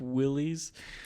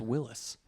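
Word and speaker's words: Willys: popped into my head Jeep Willies yeah Willis I think his pronounced Willis in the French version was right and it's yeah it's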